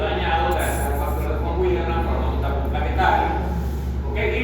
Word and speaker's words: von Willebrand: Bueno, hay una enfermedad que reportada en humanos que se llama la enfermedad de von Willebrand.